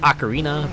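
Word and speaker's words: Ocarina: it Legend of Zelda acarina of time like I know now it's pronounced acarina but I think I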